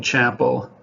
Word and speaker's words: Chappell: work of george chappelle or you might pronounce his last name chapel i know the founder of tom's of maine toothpaste spells his name the same way and he pronounces a chapel but during all the video clips you'll see i have been pronouncing his name chappelle it just looked that way to me so there's different